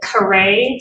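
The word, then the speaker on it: Karee: uh Tommy vzy v a z y and Kare c a r e e McQueen um car Kare it's pronounced Kare but it's c a r e e McQueen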